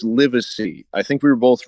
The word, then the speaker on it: Livesey: It's Livesey. I think we were both wrong. It's spelled Livesey.